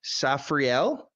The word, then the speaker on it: Saphri'ell: I'm getting it wrong is it safriel from New York is that correct correct you got it correct yeah you got it right on great thank you safriel from New York you